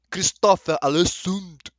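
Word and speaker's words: Christopher Alesund: Christopher Alessund. I don't know, Chris. You gotta teach me again. Christopher Alessund.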